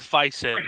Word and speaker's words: Faison: I'd have to say, Donald Faison. I hope Yes, I pronounced John, that thank correct.